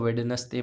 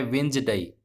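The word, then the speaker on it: Wednesday: आप इसको वेडनेसडे पढ़ते थे, गलत है भैया। वेडनेसडे पढ़ोगे तो गलत प्रश्न होगा, गलत आप एग्जाम में करके आएंगे। इसका सही प्रोनाउंसिएशन होता है वेंसडे।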